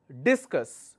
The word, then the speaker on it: discus: For example, the discus thrower, discus, which means my first syllable, it's a noun, second syllable, it's a